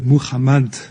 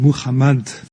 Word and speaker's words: Muhammad: occurrence et demi de Mohammad ouh là ou là ou là ou là refais s'il te plaît Mohammad non tu es un spécialiste s'il te plaît donc tu prononces correctement merci Muhammad Muhammad ça n'existe pas